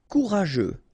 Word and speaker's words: courageux: Courageux, final X not pronounced. G-E-U together, they will give you this je, okay?